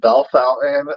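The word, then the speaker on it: Bellefontaine: b Bell Fel bless you spell Bell Fountain like they say it but I ain't nowhere near how they actually spell it I always get a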